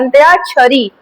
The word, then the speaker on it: अंत्याक्षरी: पर जब इसे शुद्ध रूप में बोला जाता है तो अंत्यारी नहीं बोला जाता है। अंत्यारी बोला जाता है। अंत्या छरी यहां पर आ की मात्रा लग जाएगा और ये हो जाएगा छरी।